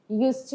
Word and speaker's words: used to: Só que aqui nessa expressão, você não repete esse D de forma alguma. Isso para fins de pronúncia, de speaking. Used to wear, ok?